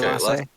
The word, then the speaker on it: Elasse: You had it right the first time. Okay, Elasse.